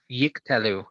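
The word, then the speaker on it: יִקְטְלוּ: The first one is silent. Okay, so you would say yik.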